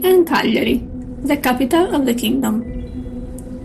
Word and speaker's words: Cagliari: The 1668 timeline takes place between Cuglieri and Cagliari, the capital of the kingdom. Both names have the accent on the first vowel.